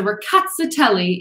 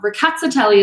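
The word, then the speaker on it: Rkatsiteli: ricotta telly um so the emphasis is on the cat and the tail um so ricatzitelli is pretty much how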